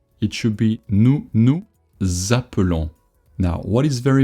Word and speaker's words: nous: You don't want to say nous. Even if you do want to say it, don't say it. Nous, the S is silent.